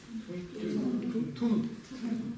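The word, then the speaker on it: བཏུང: Здесь смягчение происходит или нет? Нет. Почему не происходит? Потому что здесь нет ни на, ни да, ни са, ни ла. Здесь нет ни одной согласно, которая смягчала бы предыдущий слог. Читается как тогда? Тун.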